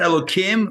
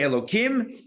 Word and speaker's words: Elokim: Elokim. Now, I pronounce it Elokim with a sound, even though it's a hey, which should have the h sound.